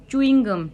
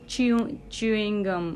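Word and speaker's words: chewing gum: एंड चूइंग गम, नॉट च्यूइंग गम, मतलब कुछ अलग तरीके से बोलते हैं लोग, च्यूइंग गम शायद से, तो दैट इज चूइंग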